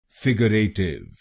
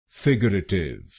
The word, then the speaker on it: figurative: इसकी सही प्रोनाउंसिएशन है फिगरेटिव। फिगरेटिव। इस शब्द में 4 शब्दांश हैं। पहला शब्दांश है FIG, दूसरा शब्दांश है UR, तीसरा शब्दांश है A और आखिरी शब्दांश है TIVE।